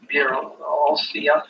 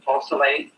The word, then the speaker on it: Beausoleil: Pistol, knives, and swords were used in the following crimes which the prisoner committed with crime partners Bir Olsia, how do you pronounce that? Beausoleil, Ann Atkins, and Grogan and Davis.